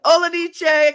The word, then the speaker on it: Olejniczak: Luke Olejniczak is here. Yes, Woo! yes, good job pronouncing the last name.